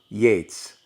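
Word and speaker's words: Yeats: it's done in a nice order in your book chapter 6 is when you are old and written by w.b yates rhymes with gates and the pre-reading activity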